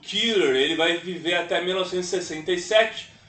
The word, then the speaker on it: Köhler: Kurt kka e o wolgan Killer que se escreve cer né com trema o Wolf Killer Por que que entre